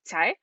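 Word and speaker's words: Cai: and especially because juliet's last name is um tai and it's actually spelled c-a-i so i never would have pronounced it correctly even and i'm chinese i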